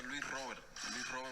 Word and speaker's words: Luis Robert: En Cuba siempre se pronuncia Luis Robert Moirán.